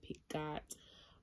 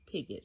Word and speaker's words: Pigott: by georgia pigott and that is how you pronounce her name i was saying pick god or whatever i was saying it's picket it's